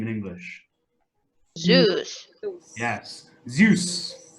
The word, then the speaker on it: Zeus: we say his name in English yes yes Zeus Zeus now what was zeus the god of thunder